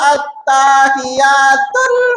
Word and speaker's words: at-tahiyatu: Di tahiyatnya itu jangan sampai huruf tanya panjang, Bo. Ini bacanya at-tahiyatul mubarakatus sholawatut. Ini benar-benar lulusan TPA gitu. Bukan at-tahiyatul enggak gitu. Jadi tanya dia kata at-tahiyatu. Belum. At-tahiyatu. Jadi ini tanya enggak banyak.